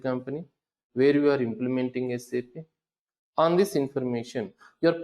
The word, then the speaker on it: SAP: So we need to pronounce it as SAP, not SAP.